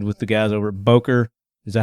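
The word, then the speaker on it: Böker: Made good connections with the guys over at Boker. Is that how you say it? Boker Knives? Boker, yeah.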